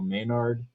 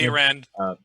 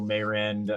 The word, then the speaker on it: Mayrand: We just recently got confirmation from Daniel Maynard, who was with Tuesday. Mayrand. I'm sorry, I said his name wrong. Mayrand. Daniel Mayrand.